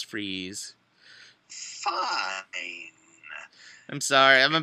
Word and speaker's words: Fries: Fri to Olympic it's freeze but it's pronounced it looks like fries but it's freeze fine I'm sorry I'm